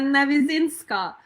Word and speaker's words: Navyzynska: It was a beautiful introduction and you have pronounced my surname so correctly. Amazing. Katrina Nizinska.